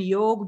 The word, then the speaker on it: yoga: that's what yoga means yoga means joining but it's called yog it's not yoga so you are not